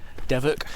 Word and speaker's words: Devoke Water: But we're just walking up to, well, it's spelt Devoke. Apparently the locals pronounce it Devoke Water.